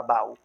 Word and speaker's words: baú: Mas está acentuado, é claro, está acentuado, que reforça mais essa tonicidade da palavra baú. Baú não é monossílaba. Baú não é um ditongo. Baú é um hiato.